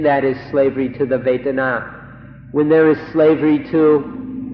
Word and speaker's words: vedana: So we'd like to request, we implore you in fact, to remember this word vedana, vedana, or in Thai, vedana. It's spelled in Roman letters V-E-D-A-N-A, vedana or vedana.